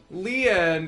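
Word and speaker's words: Lien: his name's a pine his name's a pun leon is how it's pronounced but you could also interpret it as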